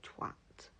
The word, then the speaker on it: twat: Like, for example, the word twat in the UK, it is a hard A, whereas in the US,